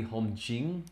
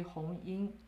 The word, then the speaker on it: Hong Ying: It's supposed to be Hong Jing, J-I-N cha. No, supposed to be Hong Ying. Oh. Ying, but here is spelled as a Jing, which is wrong.